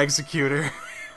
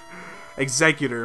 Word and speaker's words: Exeggutor: well body slam goodbye executor exeggutor my bad I keep pronouncing it wrong all right gyos we're